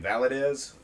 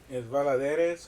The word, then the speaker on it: Valladares: So, well, the reason being like the double L is pronounced Y like officially, but I know so